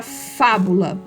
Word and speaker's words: fábula: paroxítona proparoxítona e tal a palavra fábula é uma palavra proparoxítona Então você vai escrever